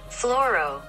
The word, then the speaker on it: fluoro: does that mean so it is pronounced floro and it is representing fluorine or fluorescence not too fluorescence yet